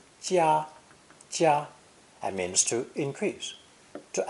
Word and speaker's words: 加: This character is pronounced 1st tone, 加, and means to increase, to add to.